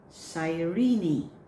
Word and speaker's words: Cyrene: There's a silent letter here by some. As what a lot of people that I heard saying this, but it should be Cyrene. Cyrene. So don't drop the last E.